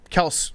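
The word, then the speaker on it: Kelce: for their entire careers his brother jason it's pronounced kels kels what yeah there's like a tick tock travis kelsey was saying that he's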